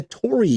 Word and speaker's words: Torii: It's a hard O and then the kind of rolled R and then the two I's make an E, so it's a Torii gate, right? You hold it a little bit.